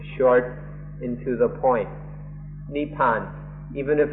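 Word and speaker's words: นิพพาน: In Thai this word is nepan nepan or in pali neipana or in written in the west we pronounce it more nibbana and then in Sanskrit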